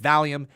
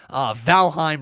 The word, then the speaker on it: Valheim: to be live with valium valium i've been saying that a lot don't know why we keep saying valium right there literally it looks like valium but it's spelt valen valheim right there we're gonna go